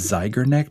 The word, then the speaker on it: Zeigarnik: It's Zeigarnik.